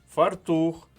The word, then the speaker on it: фартух: мабуть ви помітили що слова новий фартух подушка цінник і граблі мають наголос на другому складі і це слова які